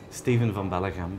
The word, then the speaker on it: Steven van Belleghem: Steven van Belleghem, but in English you can say Steve Bell.